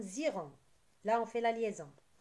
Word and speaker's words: ils iront: Et on fait la liaison, ça donne ziront.